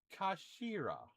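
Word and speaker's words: 頭: It's written as head in Japanese but is pronounced as kashira I believe these words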